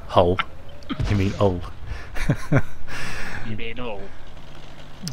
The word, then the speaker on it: Hull: They don't they don't pronounce the H in hole.